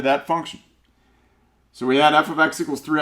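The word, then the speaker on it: f(x): write it like this when you have f with parentheses and an x inside the parenthesis that's called function notation that's pronounced f of x so f of x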